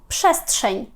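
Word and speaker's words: przestrzeń: улюблена на сьогодні комбінація пишу пше- с далі знову читається як ш тому що попереду маємо ти - шестшень простір якщо ви десь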